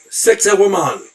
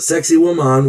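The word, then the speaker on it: Sacsayhuamán: Sexy woman. Yeah, sounds a lot like sexy woman, but it's pronounced sex with the accent on that last a.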